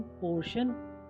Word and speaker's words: portion: टी के बाद IA, IE, IO आएगा तो टी का उच्चारण श हो जाएगा। INI TIAL इनिशियल शुरुआती, PARTIAL पार्शियल आंशिक या पक्षपात, RATIO रेशियो अनुपात, PORTION पोर्शन भाग, PROMOTION प्रमोशन या